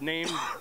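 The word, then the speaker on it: Naim: Is that how it's pronounced? Yeah, Name. Okay, Name. Yeah. That's N-A-I-M.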